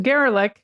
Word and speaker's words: Gerlich: And representatives of Mr. Gerlich, which rhymes with derelict, and others denied doing anything improper.